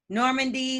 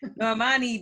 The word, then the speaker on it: Normani: Normandy, who they was like, is that how you say her name? That child, they all video birds. Yeah, she's a whole singer. Like she got a whole group. Normani.